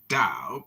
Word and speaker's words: Tao: The word Tao, properly pronounced Tao, has lent its name to a way of understanding and living in the world with profound implications for modern societies.